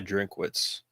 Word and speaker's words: Drinkwitz: It's pronounced in your deepest voice. Eli Drinkwitz. All right. Eli Drinkowitz.